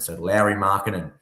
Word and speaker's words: Lauri Markkanen: And then last one, Lauri Markkanen. Got it. Yeah, that's that's how you pronounce it.